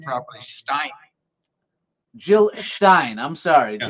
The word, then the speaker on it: Stein: Stein.